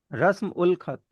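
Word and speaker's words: رسم الخط: जी, रस्म उल खत। अब यहाँ पे वो अल का उल प्रोनाउंस होता है, लिखा तो अलिफ लाम जाएगा लेकिन प्रोनाउंस उल होगा।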